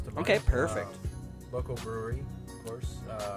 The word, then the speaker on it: Bruery: Local brewery, of course, called the Brewery. But it's spelled Bruery.